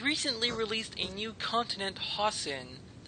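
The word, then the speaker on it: Hossin: released a new continent hen I don't know how to pronounce that it's like h o SS I yeah it's hen yep all right the map is now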